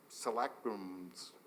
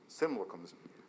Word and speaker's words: simulacrums: had to set up select rooms, that's not pronounced right. So, anyway, simulacrums, thank you, of what you perceived as reality.